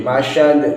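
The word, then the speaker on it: مسد: Ini pakai sin bukan shin, masad bukan.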